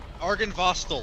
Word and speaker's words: Argynvostholt: Argynvostholt.